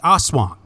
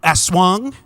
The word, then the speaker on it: aswang: that's right no just a swan yeah dude you got it there just there just like